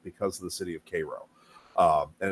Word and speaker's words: Cairo: of the city of Koo um and it's spelled the same way as Cairo is in Egypt but it's not pronounced the same way and if you're from Illinois you pronounce it Cairo you're gonna get slapped